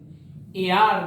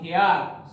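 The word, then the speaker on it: heir: আর একটা হয় h দিয়ে দেখো, h e i r, the proper pronunciation is air, not hair, so an air.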